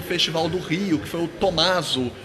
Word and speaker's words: Tommaso: do rio que eu tommaso ou tomazol né porque é o a forma de pronúncia italiana né então assim ele se